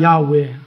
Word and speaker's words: 야훼: 원문은 야훼라고 그래요. 원문의 발음이 야훼입니다. 야훼.